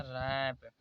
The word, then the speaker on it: wrap: यहाँ पर रहेगा WRAP, आर से पहले डब्लू आया तो इसलिए इसे पढ़ा जाएगा रैप। यहाँ पर आर से पहले